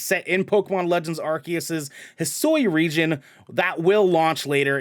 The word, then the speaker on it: Hisui: Is that how it's pronounced? Yeah, Hisui. Just making Yeah, sure. I did Hisui.